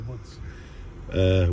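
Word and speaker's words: Łódź: Near Woods. Which is spelled L-O-D-Z with two dots above the dead.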